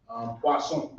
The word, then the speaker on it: poisson: Poisson. Poisson. I heard that before too. It spelled like poison. Yeah. But it's poisson. Maybe that's where poison come from. I don't know. Poisson with 2 S's.